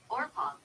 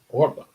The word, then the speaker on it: Orpah: They pronounce Yeah. Okay. Orpah. Orpah.